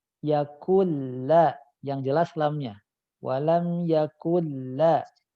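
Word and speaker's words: يَكُن لَّهُ: Walam yakun lahu kufuwan ahad. Antum terdengar huruf nunnya dibaca. Yakunla. Oh, Huruf ya Ustaz. nunnya masukkan ke lam. Nunnya hilang. Nunnya harus hilang secara bacaan. Yakulla.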